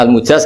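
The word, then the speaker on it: مجاز: sanad itu untuk al-mujaz, bacanya al-mujaz karena dari fi'il madhi ajaza.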